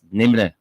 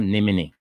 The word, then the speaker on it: Nimne: My name is pronounced as Nimne. Okay. All right, so not Nimini.